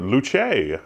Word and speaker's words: Luce: the P 110 or Luce the Italian pronunciation which comes from the Latin Lutz although it's the accusative